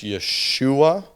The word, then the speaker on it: Yeshua: a name for for instead of calling Jesus Yeshua right which would be how we would say his name in Hebrew they call him yeshu